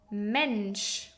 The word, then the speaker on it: Mensch: In other words, when you see SCH, you always pronounce it like sh. For example, fish, fish, Schal, scarf, Mensch, human.